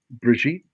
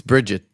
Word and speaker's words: Brigitte: Why do you say her name like she's French? Brigitte, She's not. It's Bridget.